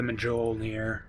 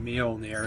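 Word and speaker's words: Mjölnir: what do I want probably the medjool near or Not Sorry meal in the air is the way it's pronounced but uh or Maelstrom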